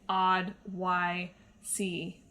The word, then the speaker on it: Oddysee: gotten Oddworld Abes Odyssey I have to pronounce it like that I can't say Odyssey or you might think that I'm saying the word Odyssey when I'm in fact saying odd y c and even that didn't